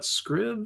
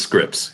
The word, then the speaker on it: Scripps: It's Scripps Spelling Bee, isn't it? Not Scribs? It is Scripps, yeah.